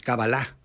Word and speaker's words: cábala: años estudiando la cábala que la pronunciamos como sirvan el término esdrújulo pero es éxito no es decir agudo es cábala la cábala judía por